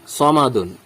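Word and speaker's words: صَمَدٌ: তাহলে কি হবে সমাদুন এখানে মোটা করে উচ্চারণ করতে হবে সমাদুন তারপরে দেখুন দয়ে উদাহরণ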